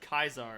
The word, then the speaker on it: Caesar: But you can dress up in a Caesar's Legion uniform and walk to another Caesar's Legion guy and be like, yep, another day in Caesar's Legion. They'll be like, it's pronounced Kaiser.